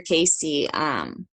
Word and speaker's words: Cayce: So yeah, I'd look into Edgar Casey. And I have a lot of books by him too. You said So Edgar? Edgar Casey, yeah. So and Casey is spelled Cayce.